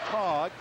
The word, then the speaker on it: Tage: And Tracy, T-A-G-E, his first name, pronounced Tog, inbounds to Brian Scruggs.